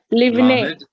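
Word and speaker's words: לבני: Livne Lamed like the word love.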